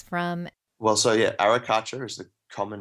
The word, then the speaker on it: arracacha: from well so yeah arracacha is the common name in Spanish they pronounce it with a very bit more Flair than I'm capable of with my Australian drawl but our Akash is